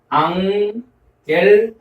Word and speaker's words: ἄγγελος: 그래서 감마 뒤에 카파 또는 감마 뒤에 크시, 감마 뒤에 키 이럴 경우에 앞에 감마를 이응으로 발음한다라는 것입니다. 그래서 우리가 이 단어를 앙겔로스, 그래서 앙겔로스라고 발음을 했습니다.